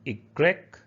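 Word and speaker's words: i grec: x xelophone a xylophone y is called igrec igrec yak that's a yak and the last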